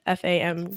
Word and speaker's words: FAMU: I think that's how you pronounce it, right? FAMU?